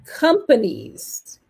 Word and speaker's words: companies: Companies. Once again. Companies. Donc, on a un accent tonique qui est ici très exactement. Companies. Et c'est pas companies. Non, c'est companies.